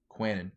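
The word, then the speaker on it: Kwannon: Quanon.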